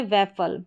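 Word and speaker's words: waffle: लेकिन मुंह से मुंह से है जो यह अ वाला साउंड आ रहा है फल इस तरीके से। तो यहां पर हो गया वेफल।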